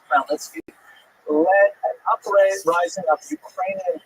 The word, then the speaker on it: Khmelnytsky: this man, not Khmelnytsky, sometimes horribly mispronounced Chmielnicki, because that's the Polish spelling with an American pronunciation, but the actual pronunciation is Khmelnytsky, led an uprising of Ukrainian peasants against their Polish overlords.